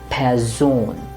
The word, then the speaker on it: Person: it would be plan and lastly pazone you see the vowel sounds are retained eliminated person here it's going to be pair zone all right the last